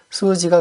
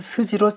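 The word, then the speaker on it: 数字: 다 다 이렇게 표현합니다 스 역시 장음으로 만들 때 스의 두 번째 음인 우를 붙여서 장음으로 만듭니다 수지가 그렇습니다 수지는 숫자입니다 특히 수지를 스지로 짧게 발음하면 그 뜻이 달라져서 줄기라는 뜻이 된다는 점 기억하시기 바랍니다네 역시 장음으로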